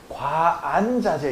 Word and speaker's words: 관자재: 어, 그래서 반야신경에도 보면 어, 관자재 보살인데 과안자제 이러거든.